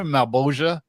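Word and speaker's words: Malebolgia: By the way, I didn't know how to say Malboja, and for the longest time until the Spawn like animated series came out. Remember Malboja, that character? Who's played That's how you say it.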